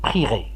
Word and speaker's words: prierai: Faites attention, la bonne prononciation, c'est prierai.